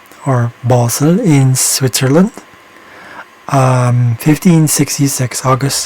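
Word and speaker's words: Basel: files than necessary okay this one is in bosel in Switzerland that's actually how they say it they have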